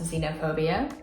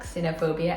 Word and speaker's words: xenophobia: learned that this work this word is actually pronounced xenophobia in English not xenophobia as I would pronounce it in um I don't know in other languages so anyways that was